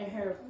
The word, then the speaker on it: herb: There are, unfortunately, for some French and Italians, there are a few words in English where you don't pronounce the H at the beginning.